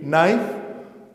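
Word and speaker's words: knife: अब देखिए, ये तीनों वर्ड्स जब हम प्रोनाउंस करेंगे तो इसमें के साइलेंट होगा। हम इसे पढ़ेंगे नो, इसे पढ़ेंगे नाइफ और इसे पढ़ेंगे नॉक।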